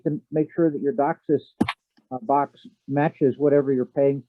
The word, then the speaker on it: DOCSIS: wanted to comment on docsis that's how d-o-c-s-i-s is pronounced docsis is the cable